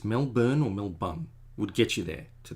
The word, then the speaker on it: Melbourne: So instead of pronouncing it Melbourne, like no one's born, it's Melbun, like a bun, like a man bun, or a burn, like the whole of the West Coast is burning. It's Melbourne or Melbun would get you there to the same thing.